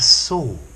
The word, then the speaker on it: soar: So, to soar, S-O-A-R. It sounds like the past of see. I saw you yesterday. Or a saw to cut, S-A-W.